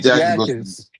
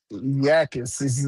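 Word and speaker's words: Jacas: So Gabe Jackis. Jackis. Yakis looks like a look it's like a Y. Oh, Yakis. Yes. Okay. Gabe Yakis goes uh to the Patriots with the 55th draft pick.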